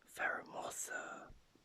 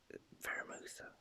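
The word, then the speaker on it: Pheromosa: I used to pronounce this thing Pheramosa. I don't know why, but it's Pheramosa, sorry.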